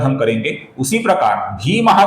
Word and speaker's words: भीमः: भीमः का जो भी अक्षर है, ये दीर्घ अक्षर है दोस्तों। कुछ लोग इसका भीमः ऐसा ह्रस्व उच्चारण करते हैं, जो कि गलत उच्चारण है। इसका उच्चारण है भीमः, दीर्घ उच्चारण हमें करना है दोस्तों।